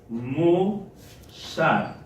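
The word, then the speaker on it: מוסר: Testamento, específicamente en Proverbios, y la palabra se pronuncia de la siguiente manera. La palabra es musar.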